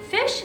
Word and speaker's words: phish: Fish is pronounced just like it's spelled, which is to say like the word fish.